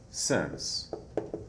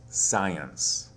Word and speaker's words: since: Since Don't confuse the word since with the word science. Sometimes students will confuse the pronunciation of this word with this word since.